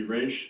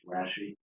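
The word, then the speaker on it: Rasche: Raish is in the top far right-hand corner? Yes, but I think he'd like me to correct his last name. It's Rashi. I assumed I probably mispronounced it.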